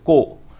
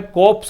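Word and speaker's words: corps: रे बोल रहे हो, को, तो ये को है, कोप्स नहीं है, ठीक है।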